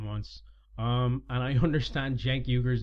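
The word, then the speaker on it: Cenk Uygur: last couple of months um and I understand Jake euger's name is pronounced Jack euger anyway um I might try and do a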